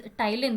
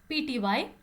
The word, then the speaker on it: ptyalin: Here P is silent. I don't know why it is silent, but it is silent. So the spelling here is ptyalin. The word looks like it starts with ty. No, right? It is ptyalin.